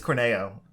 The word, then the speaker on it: Corneo: Apparently it's Corneo. That's how they're pronouncing it.